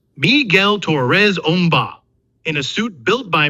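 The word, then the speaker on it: Miguel Torres Umba: Ben is played by movement specialist Miguel Torres Omba, pronounced Miguel Torres Omba in a suit built by Millennium FX.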